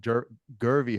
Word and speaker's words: Jervey: Guest today Dr gervy how do you say how do you say dery okay because it's spelled with a J but it's pronounced as a G right okay um CEO